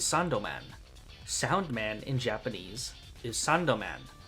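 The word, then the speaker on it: サンドマン: Sandman in Japanese is Sandoman.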